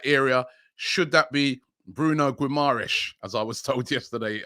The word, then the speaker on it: Guimarães: midfielder in that area should that be bruno guimaras as i was told yesterday i should pronounce it um 24 experience brazilian playing for